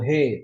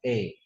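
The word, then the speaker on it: へ: Ini bukan Kyoto he tapi Kyoto E ya.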